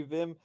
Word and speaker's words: Vim: I never know if I'm pronouncing it right because I call him Women and I know it's meant to be Vim, and then his surname.